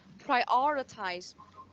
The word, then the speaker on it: prioritize: So about these phonetics, we will have prioritize. Prioritize. Perfect. The second syllable, okay? Prioritize. Prioritize. Okay, yes. Sẽ có 4 âm tiết mọi người nha.